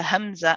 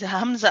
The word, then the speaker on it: همزة: now so with hamza hamza is a letter that is we call it a shidda letter it's a letter that has a sharpness to it um when we pronounce it with a fatah we say ah so where is the sharpness the sharpness in this case is right at the beginning when you first start